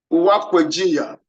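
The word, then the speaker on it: Uwaekweghinya: Supreme Court held in the case of this case, the spelling is one kind of, but let me pronounce it first. Uwakwejinya versus the state, but the spelling is UWA EKWE GHINYA.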